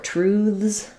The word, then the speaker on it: truths: So, sometimes when we have th at the end, and we make it plural, this is a voiceless th, it sounds like truth. No air, not truth, but truth. And then for truths, we might make more of a voiced th sound, which would make it be a z sound.